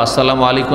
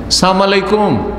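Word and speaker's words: السلام عليكم: না বলে বলে আসসালামু আলাইক আসসালামু আলাইকা ওয়া আসসালামু আলাইকুম না বলে কি বলে আসসালামু আলাইকুম সালাম মানে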